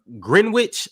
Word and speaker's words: Greenwich: ever Super Chat from grenwich London that's how you say it green green Wich Greenwich Greenwich the W